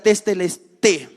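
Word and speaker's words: τετέλεσται: Saben, en el griego esta palabra significa tetelestai o tetelestai. Ahí literalmente tetelestai. Pero en el griego también el diptongo se suprime y solo se pronuncia como hay como sería tetelestai. ¿Qué significa o qué implicancias tenía esta palabra?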